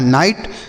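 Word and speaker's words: night: का उच्चारण आई होगा और कहीं भी अगर जी एच टी आपको लिखा हुआ मिले बच्चों तो उसे आप ट पढ़ेंगे क्या पढ़ेंगे ट लिखा है नाइट नाइट का मतलब होता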